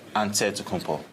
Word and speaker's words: Antetokounmpo: in a given way you gotta say with the d so it's but in the greek way you say with the nt like antetokounmpo whatever you got just